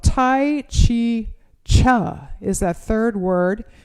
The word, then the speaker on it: Chih: is called tai chi cha is that third word it's i don't know if you can see it c-h-i-h is the way it's spelled and it's pronounced cha like chuck wagon it's not a nutritional